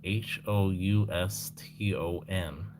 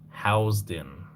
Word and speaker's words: Houston: It's spelled H O U S T O N. And it's pronounced housed in.